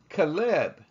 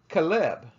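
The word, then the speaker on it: חֵלֶב: is pronounced calab calab where the word meaning fat is pronounced Colette Colette both have the same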